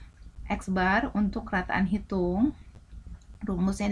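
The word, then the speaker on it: x̄: data seperti itu ya Nah ini lambangnya ada eksbar rata-rata itu eksbar ada garis di atas exnaid membacanya eksbar untuk rataan hitung rumus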